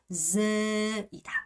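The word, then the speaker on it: dê: 얘 디귿으로 발음하면 된다, 안 된다? 절대 안 된다. 그래서 z고 얘는 ze, 생각하면 ze이고.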